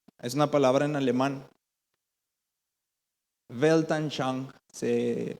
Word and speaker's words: Weltanschauung: Weltanschauung se pronuncia.